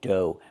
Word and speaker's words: dough: Pronunciation do. Make the long O like no and go. And the gh is silent.